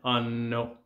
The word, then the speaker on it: hanno: Loro hanno, notice the double N, hanno. It's not hanno, and it's not abbiamo, it's abbiamo and hanno. So you always pronounce every letter including the consonants.